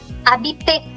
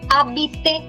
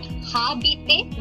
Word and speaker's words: habiter: The verb that we are studying is called habiter. The verb is habiter, not habiter, because ash is never pronounced.